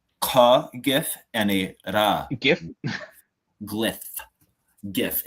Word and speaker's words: GIF: GIF. It is pronounced a GIF, though. I will say that it's not GIF.